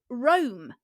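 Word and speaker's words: Roam: you about which is called Rome which is spelled r-o-a-m not as in the city um and we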